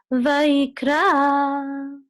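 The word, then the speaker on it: וַיִּקְרָא: So the accent is on ra, Vayikra, because it's under the resh. And then, so this is Tibcha, so this is Vayikra, Vayikra.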